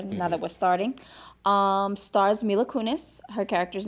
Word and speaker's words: Mila Kunis: That's how you say her name, Yes, Mila Kunis.